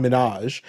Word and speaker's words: Minhaj: yeah H Min because I usually say Hassan Minaj sounds like he's related to Nicki Minaj which he's not again